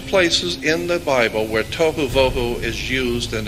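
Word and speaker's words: תֹהוּ וָבֹהוּ: spelled in Hebrew but that's the way it's pronounced t o e w toou voo would be v o e w toou voo waste desolation there's only two places in the Bible where toou voo is used and it's and those two places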